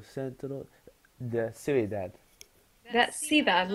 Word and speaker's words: cidade: Da cidade, not ciudad. Ah, da cidade.